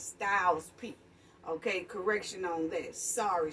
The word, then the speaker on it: Styles P: i might have said his name wrong at first p styles no it's styles p okay correction on this